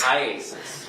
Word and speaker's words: IACIS: it Isis yes no how do you say iasis iasis all right I just